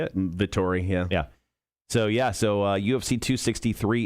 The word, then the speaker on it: Vettori: Vettori, yeah.